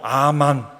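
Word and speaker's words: אָמֵן: 알고 있는 그 말 아멘이 아멘 실제로 히브리말 발음으로 아만 아멘이 아멘 아멘 이걸 영어에서 아멘으로 번역했어요 실제로 실제로 그 말이에요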